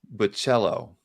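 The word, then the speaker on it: Bachalo: now and i believe it's pronounced but cello but cello like playing the cello boom i love bachelor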